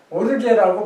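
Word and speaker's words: ὀργή: 그 다음에 헬라어로 오르게라는 단어가 오르게 이렇게 돼갖고 이렇게 하고 이렇게 찍는데 이것을 오르게라고 발음하면은 분노입니다.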